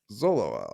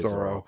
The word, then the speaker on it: Zoro: what's more impressive about Zolo, like Rora. I can't Zoro. say his name like fully. Just say Zoro. Zoro. Zoro. I put Zolo for some reason on here. That's not right.